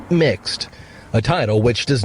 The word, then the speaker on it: Mx: doesn't use the pronoun Mr., instead using MX, pronounced mixed, a title which does not imply a gender.